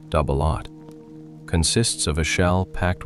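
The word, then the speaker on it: double-aught: Its primary ammunition, doubleot buckshot, pronounced doubleot, consists of a shell packed with eight or nine 33 caliber lead pellets.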